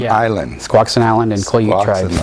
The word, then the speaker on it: Squaxin: Squaxin Island. Squaxin Island and Quileute tribes.